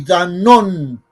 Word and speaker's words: Danon: Dani con doble N e Y Danon con acento en la O.